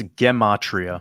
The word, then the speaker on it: Gematria: Yeah, you're pretty close. It's Gematria. Gematria.